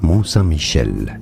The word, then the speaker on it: Mont Saint-Michel: So in French, for reference, it's said as Mont Mont with a silent T, Saint-Michel. Mont Saint-Michel.